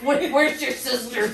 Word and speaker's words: Worcestershire: I know that's how it's spelled. Kielbasa. Yeah. It's like Worcestershire. Where's your sisters?